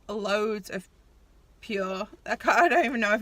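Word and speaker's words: Pür: And I also got this highlight palette from, I think you pronounce it Pure, because it's got the little dots over the U, not purr as in like a cat.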